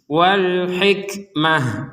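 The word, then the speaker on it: الحكمة: wkmah nah kata alhikmata perhatikan huruf ta yang bulat ini harakatnya fathah Cuman karena kita berhenti maka huruf Ta ini akan berubah terbaca menjadi huruf ha Wal hikmata kemudian karena kita berhenti menjadi Wal hikmah Jadi huruf tnya menjadi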